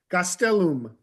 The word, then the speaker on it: Gastelum: can uh clarify that it is Gastelum Gastelum Gastelum no no Accent on any of the syllables galum I I like